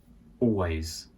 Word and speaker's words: always: Always. Always. Notice here we don't say the L of always. It sounds a little bit awkward and unnatural to say that. So it's almost like you're going always, always.